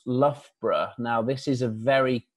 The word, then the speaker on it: Loughborough: make it easier and to save time and Loughborough is the easiest way of pronouncing it we have had many different pronunciations such as Luger burger and Lao where Al and Loughborough but I